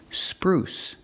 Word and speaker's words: spruce: verb spruce up pronunciation use the long ooh like food and moon ooh sprue spruce spruce up it means